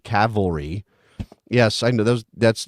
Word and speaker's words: Cavalry: mispronunciation last time because I said Calvary instead of Cavalry yes I know those